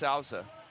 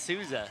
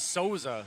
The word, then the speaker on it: Souza: it bother you that it's pronounced saza it's not it's pronounced Souza I thought it was soza who's got the mic